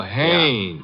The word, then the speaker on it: Haynes: warf fishing so I what did you say his name is hannes h a i n s oh oh haes yeah do you know